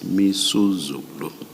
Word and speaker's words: Misuzulu: I mispronounced the king's name. It's Misuzulu. Thank you.